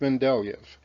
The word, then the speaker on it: Mendeleev: Mendel was the early scientist who studied peas, and his name has the first part in common with Mendeleev, pronounced at the end like Yev.